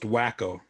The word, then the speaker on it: Waco: waco which is always i believe it's pronounced wacko they do a solid